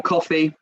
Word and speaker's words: Coffey: My name is Coffey. Like the drink, except not spelled the same.